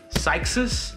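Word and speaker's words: Cyxus: are on Amazon there by Sykes's I think that's how you pronounce it it's C Y X us so they're like 20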